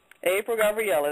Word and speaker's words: April Gabrielle: I'm doing great how are you am I pronouncing your name correctly April Gabriella that's it that's right so uh tell us